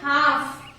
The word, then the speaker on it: half: Half. Then talk. Here also you can see half L silent, talk, T silent.